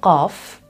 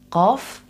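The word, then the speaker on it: ق: It's called qaf, qaf, and pronounced q, q, down here. And the closest or most familiar sound to this, to some of you guys, might be the French R, which is pronounced R, R up here. But this one is deeper. R, R versus R.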